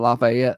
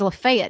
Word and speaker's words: Lafayette: Uh there was a seven I believe they pronounced that Lafayette. Lafayette, is it? No, it's probably Lafayette. If it's not in Louisiana, I think it's Lefayet everywhere. Lefay, Tennessee in Laet, Louisiana. Uh 72year-old man Gary Wolft uh wrote his obit.